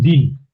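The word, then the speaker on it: דין: en el vocabulario, el din, que quiere decir juzgar din. Hay verbos así que tienen una yod en la mitad y eh la pronunciamos i, ¿verdad?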